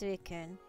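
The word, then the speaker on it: Suicune: You don't pronounce the E. Oh, so it's suikun.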